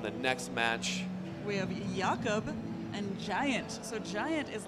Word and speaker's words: Jakob: Can we get a pronunciation confirmation on Jakob? Yes. Jakob.